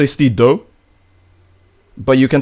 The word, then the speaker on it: Steedoj: I would prefer if you just say Steedoj. But you can say Steedoj if you want.